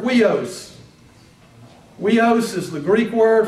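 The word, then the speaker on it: υἱός: It's pronounced like we, like the word sweet, S-U-I-T-E. The Greek word with we in it is the word huios.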